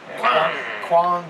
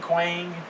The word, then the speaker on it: Kwang: Kwang, Quang. Okay, it's done. Don't say it without the K on it.